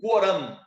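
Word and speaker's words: القرآن: Pois é, e esses preceitos do Corão, do Coran, né? Como se fala em árabe, tá? O nome do livro é Coran.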